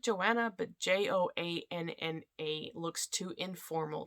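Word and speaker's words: Johanne: with my family because it's j-o-h-a-n-n-e which should be pronounced joanne but i always pronounced it joanna but j-o-a-n-n-a looks too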